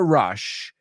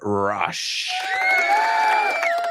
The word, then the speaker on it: rush: She said, I know you're in a rush because you're always looking for an adrenaline rush. Yes. Let's pronounce the word together. Rush. Rush, right? Rush. It rhymes with hush.